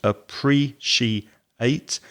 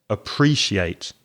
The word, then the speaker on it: appreciate: It has 4 syllables, appreciate, and the stress, the strong syllable, is the second one, appreciate.